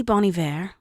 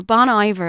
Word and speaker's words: Bon Iver: I went to see Bon Iver, or Bon Iver, as Jonathan here in the studio is laughing at me because he pronounces it wrong.